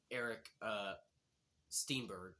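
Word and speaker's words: Eric Steinberg: This is the man who played him in Mortal Kombat Legacy 2, Eric, Steenberg.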